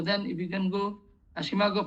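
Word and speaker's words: SCImago: So then if you can go, Shimago pronunciation is some say Simago or Isimago.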